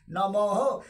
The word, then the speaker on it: নমঃ: দন্তে নম বিসর্গ নমহ বিসর্গ উচ্চারণ হ নমহ ওম হৃং শ্রীং লক্ষ্মী